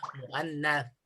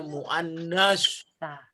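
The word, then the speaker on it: مؤنث: Ingat bacanya jangan sampai salah, muannats. Karena ke bahasa Arab kita biasanya bacanya muannas.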